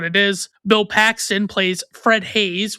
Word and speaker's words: Haise: Bill Paxton plays Fred Hayes, which is spelled Haise, not Hayes.